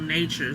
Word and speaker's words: Knature: So, Nature, um, there's this jewelry brand that I like called Nature, spelled with a K. K N A T U R E.